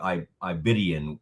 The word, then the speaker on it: Aigbedionon: Omar I Betian um joining us now. I like how you say it Omar. I've heard you say your last name. It's more It sounds more like I I Betian when I've heard it.